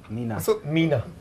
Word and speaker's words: Mina: Nina. Why do people keep calling me Nina? Mina. Mina. Mina, I'm sorry. It doesn't bother me. It's the way I pronounce my M's.